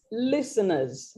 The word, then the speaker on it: listeners: redundant words and then the word is listeners not listeners it's a silent t there all in all i